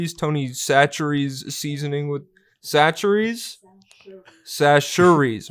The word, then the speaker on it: Chachere's: Sashuries, my Louisiana girlfriend's on the floor over here, so I'm getting the correct pronunciation real time.